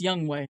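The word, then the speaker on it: Younghoe: It's Young Way, and not Young Ho.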